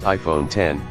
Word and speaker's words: iPhone X: the next 10 years the iPhone X pronounced iPhone 10 represents the most radical